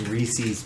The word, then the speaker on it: Reese's: It's pronounced Reese's Pieces.